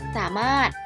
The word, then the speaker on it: สามารถ: เป็น ตัว สะกด ค่ะ และ สามารถ อ่าน ว่า จะ สามารถ ใช้ ร เรือ กับ พอ ถุง เป็น ตัว สะกด ค่ะ ต่อ ไป